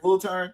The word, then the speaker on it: Wiltern: And then we have Prince's performance at the Wiltern Theatre. Am I pronouncing it right? Wiltern?